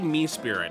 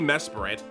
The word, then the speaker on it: Mesprit: I say Mesprit, which sounds wrong. It could be Mesprit. The being of emotion. Mesprit sounds too awkward.